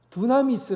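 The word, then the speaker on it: δύναμις: 사용된 능력 이라는 말은 두나미스 라는 단어를 써요 이 둔한 있으라는 말과 영어로 다이나마이트 비슷하죠 발음이 둔한 있으라는 말해서 다이나마이트 하는 말이 나온 겁니다 폭발 하는 능력 그 능력 이라는 말은 바로 이 두나미스 에서 나온 얘기에요 큰돌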